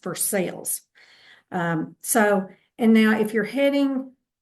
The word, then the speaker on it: Versailles: If you're not from here, you might pronounce that differently, but in Kentucky, it's pronounced Versailles.